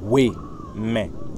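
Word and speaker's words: Houeme: je vais le rendre un peu simple, ça sera H-O-U-E-M-E, pour que tu vois la prononciation, mm-hmm.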